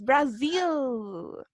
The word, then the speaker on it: Brazil: Que alguien me sople el nombre de este Brazil. país. Yes, Brazil. Recuerden que cuando tenemos la Z, ¿cierto? Suena como abejita.